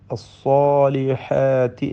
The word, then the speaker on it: الصالحات: ഇതിൽ സ്സാലിഹാത്തി എന്ന് പറയുമ്പോൾ സ്വാദിന് തഫ്ഖീം നൽകണം, പെരുപ്പിച്ച് ഉച്ചരിക്കേണ്ടതാണ്. സ്വാദിനും അതിൻ്റെ ദീർഘാക്ഷരമായ അലിഫിനും.